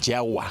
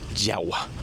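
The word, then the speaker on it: Jawa: para entrar en la isla de Yagwa que dicen aquí. Pero es nosotros la conocemos como Java, aunque en Indonesia se pronuncia Yahwa.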